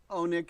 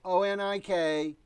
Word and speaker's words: Onik: finding your information and your first name pronounced Oh Nick is that correct Oh Nick only get on ik I'm sorry and that's bailed oh and I came very short and said on ik and in the last